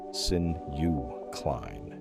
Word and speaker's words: synuclein: disease, amyloid beta, tau, alpha-synuclein, pronounced sin-u-cline, is now heavy enough that it is no longer a hypothesis in neurology textbooks.